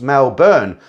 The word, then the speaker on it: Melbourne: Then back to Melbourne, pronounced Melbourne.